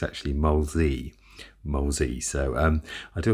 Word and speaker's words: Molesey: i'd like to just quickly correct the uh pronunciation of mine in my last video uh i've always been calling it moseley all my life and it's actually molesy mosey so um i do apologize about that